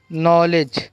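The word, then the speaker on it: knowledge: क्या है, निटीर, नॉलेज। तो ऐसे वर्ड्स है जिनके अंदर जो है के साइलेंट है। क्या साइलेंट है, के जो है वो साइलेंट है।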